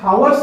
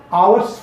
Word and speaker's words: hours: जैसे कि आपने देखा होगा कि HOURS हावर्स नहीं पढ़ते हैं, आवर्स पढ़ते हैं।